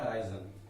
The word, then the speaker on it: horizon: अगला आपका जो शब्द है उसका हराइजन उसको बोलते हैं, इसका प्रोनाउंसिएशन होता है हराइजन, HORIZON।